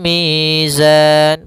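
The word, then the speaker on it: الْمِيزَانِ: Dan pada lafal mi ada bacaan mad th'i kembali yaitu adanya ya sukun didahului dengan huruf berharakat kasrah panjangnya dua harakat. Kemudian pada lafal zan ada bacaan kembali yaitu mad arid lukun. Panjangnya boleh kita panjangkan dua harakat, boleh empat harakat dan boleh pula enam harakat.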